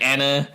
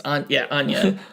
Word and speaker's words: Anya: I think we said like Anya. It's Anya.